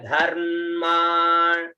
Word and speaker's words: धर्मा: फिर शब्द आता है धर्मान, है ना, धर्मा, ध म पूरा माँ र की मात्रा, उच्चारण धर्मा, ठीक है, धर्मा, ध र की मात्रा आधा में फिर पूरा माँ, उच्चारण धर्मा णिप, णी आधा प